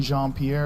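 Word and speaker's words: Karine Jean-Pierre: never never never it's like that lady Karine jeanpierre is how you say her name yeah the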